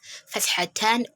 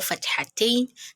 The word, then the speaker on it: Fathatan: Here we have Fathatan or Fathatain, then Kasratan or Kasratain. You can pronounce it either ways.